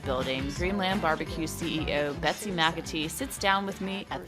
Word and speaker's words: McAtee: Inside of the one-story red building, Dreamland BBQ CEO Betsy McAtee sits down with me at the bar.